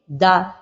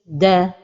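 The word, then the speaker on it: دَ: The mistake when pronouncing the letter دال with the vowel فتحة is to make the vowel heavy da or to make the vowel light de, and the right pronunciation is da.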